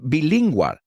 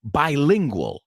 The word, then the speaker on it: bilingual: Bilingual es bilingüe, sí, pero no se pronuncia bilingual, sino bilingual. Como prefijo en inglés, bi se pronuncia bi.